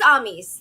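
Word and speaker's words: Amys: a chattering in my ear on your own pronunciations uh it is ami's thank you yeah that's the first one i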